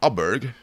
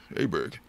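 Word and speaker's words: Åberg: Clark Tim Malloy Johan abber and many more that's that's how you pronounce it with a little oot over his a there Johan a Berg AB Berg so yeah I'm um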